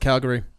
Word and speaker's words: Cagliari: They drew 1-1 to Cagliari. Inter missed the opportunity to close the gap. It's pronounced Calgary. Well, that's the English version. I'm trying to be Italian.